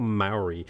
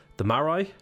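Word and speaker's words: Māori: and we're playing the Maori? It's not the Maori, it's the Maori. Sorry, I've been saying it wrong.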